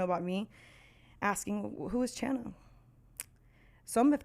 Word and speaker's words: Chana: If you're just now tuning in, my name is Chana. Yes, it rhymes with banana.